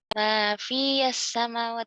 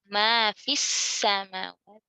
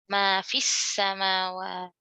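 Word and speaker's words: ما في السماوات: Nah, karena ada dua sukun di sini—sukun ya dan sukun lam—kedua sukun tersebut bertemu, sehingga 'ya ' dihilangkan dalam pengucapan. Jadi, itu terhubung langsung dengan sukun kedua. "Ma fis-samawat." Tunggu, ini " syamsiyah," kan? Jadi, langsung saja ke sini. "Ma fis-"...lam diasimilasi. Lam tidak dibaca.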